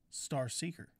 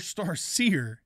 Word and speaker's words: Star Seer: Yes, that up we got the Skink Star Seeker. Or Star Seer, if you want to say it correctly.